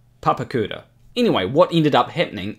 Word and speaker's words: Papakura: papakura um just so you know it's actually pronounced papakura anyway what ended up happening is the tour